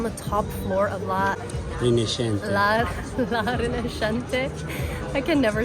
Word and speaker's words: La Rinascente: La Rinascente.